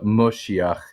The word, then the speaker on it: Moshiach: And they also pronounce the kamats as a as more of an o sound than a a sound in a lot of instances, which is why you'll see uh like like Orthodox you sometimes refer to the Messiah as the Moshiach.